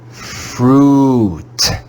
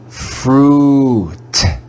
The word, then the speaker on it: fruit: read this word together fruit fruit fruit this word probably makes you hungry fruit wouldn't you like some fruit the digraph u i is read with the sound u as in fruit here we see the